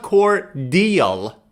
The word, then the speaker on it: cordial: It's not cordial in American pronunciation. It's cordial.